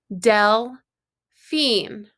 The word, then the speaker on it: Delphine: I broke it into syllables. Del-phine.